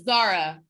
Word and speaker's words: Zahraa: In Arabic, in Arabic, you pronounce the H. In English, in Arabic, it's Zahraa. And in English, it's Zahraa.